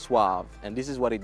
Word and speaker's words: SUAV: If you notice from our logo, it's a S-U-A-V. So because people are pronouncing it suave when it should be pronounced suave. So I just made it easier for people by taking away the E.